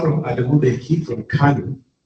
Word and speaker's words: Kano: Interestingly, apart from Adamu, they came from Kano. It's not called Kano, it's Kano. It's the proper pronunciation. K-A-N-O is Kano. It's not Kano.